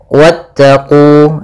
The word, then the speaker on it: واتقوا: Pada lafal wattaqu di sini wanya langsung ke huruf ta dan wawnya tidak dipanjangkan, meskipun kita mendapati bahwasanya kalau ada huruf alif setelahnya maka dia panjang.